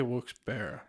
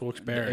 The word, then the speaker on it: Wilkes-Barre: See, I say Wilkes-Barre. That's Wilkes-Barre.